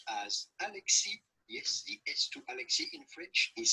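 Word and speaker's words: Alexis: french or canadian french his name would be pronounced as alexi yes is silent so do not pronounce it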